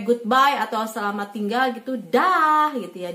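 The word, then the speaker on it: dag: Di sini tulisannya dah pakai g, tapi bacanya gini, dah. Mesti ada kayak reak-reak kayak gitu ya, lendir di sini, dah gitu. Karena g itu kan dibaca ke, he gitu, jadi dah.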